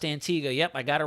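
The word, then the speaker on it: Antigua: good thing wherever this thing continues to move pronounced Antiga yep I got a right this time hopefully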